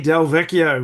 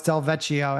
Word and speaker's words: DelVecchio: Oh, it's Delvetio every time. Delveetio they pronounce that it that ch that No, it's the two C's. If it was it's the two C's that make it Delveio.